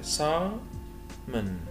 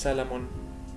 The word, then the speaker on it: salmon: سا فتح البوق كده سامون سامون سامون مش سالمون. طبعا سالمون ده باللهجه بتاعتنا في دين علبه سالمون اللهجه المصريه بتاعتنا انما النطق الانجليش بتاعها سامون. صورة بعد كده sardines اللي هو السردين sardines.